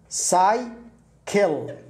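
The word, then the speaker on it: cycle: ركز معي إن هنا نطقنا س لأنه جاء بعدها واي، السي الأولى هناك سي وسي، السي الأولى نطقت سي لكن لأنه لا يوجد بعد السي الثانية لا آي ولا إي ولا واي فنطقت كاف فأصبحت ساي كيل.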